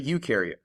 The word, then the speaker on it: eukaryote: look at a eukaryote you rhymes with do and they do have